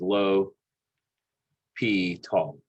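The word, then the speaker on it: L'Hôpital: So this reads, the way you say this is low P tall. That's one way to say it. Phonetically.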